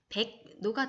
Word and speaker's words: 백로: 자, 그래서 백로는 백노가 되고 그리고 뒤에 변화한 니은을 보면서 백노 비음화가 되게 됩니다. 협력도 마찬가지로 협력, 협력 이렇게 되게 됩니다. 그래서 받침, 기역, 디귿, 비읍 뒤에서 리을은 니은으로 발음이 돼요.